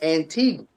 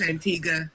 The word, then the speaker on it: Antigua: my whole life I was calling it Antigua. Oh no, it's Antigua. That U is silent.